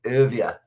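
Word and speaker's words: Erwee: down the bottom airway always say his name wrong but it's uh urvia and then also elgar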